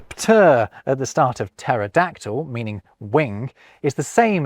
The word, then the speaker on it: pterodactyl: So we pretend the P isn't there when we pronounce Greek-derived words like psychology and psalm. Ditto with pt words like pterodactyl.